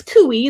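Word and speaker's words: cuy: food and things like that they call them kui c-u-i i think it's c-u-i or c-u-y i can't remember but it's kui that's how you pronounce it i think it's c-u-y and um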